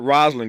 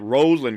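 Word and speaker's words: Rosalynn: it wrong again so it is not Roslin Carter it's Rosen Carter that's how she uh pronounced it uh and that's how the family uh pronounced it and so again our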